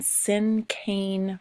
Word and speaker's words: cinquain: lesson today we are going to focus on sim cane poetry I know it looks like it might be pronounced in Queen but it is pronounced in